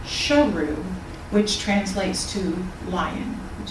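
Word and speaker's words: Sheru: And Saru later learned that he had been mispronouncing his own name for all those years. His real name was actually Sharu, which translates to lion, which is where the title comes.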